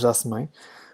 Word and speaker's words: Jasmine: Yes, I know it sounds like a girl's name, but I'm French Canadian, and we pronounce it as Jasmine, which is completely normal and not weird.